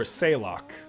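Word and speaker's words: Saileach: Sayleech, or Saylock, as it's supposed to be pronounced, but I will say Sayleech.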